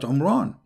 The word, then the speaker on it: Imran: Moses and Aaron because his name is Imran so the last letter is M not in so the foolish Mohammed he thought that Mary she is the daughter of Imran and home Ron is